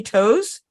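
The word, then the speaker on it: Tose: your grandfather leonard and um i hope i'm pronouncing the last name correctly toes perfect yes thank you leonard toes um he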